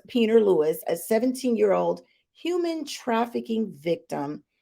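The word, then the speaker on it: Pieper Lewis: So, Iowa teen, her name is pronounced Peter Lewis, a 17-year-old human trafficking victim, has been sentenced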